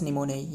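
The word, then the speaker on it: pneumonia: देखिए ये निमोनिया का मतलब है पी मतलब पी मतलब ये पी साइलेंट वर्ड रहे।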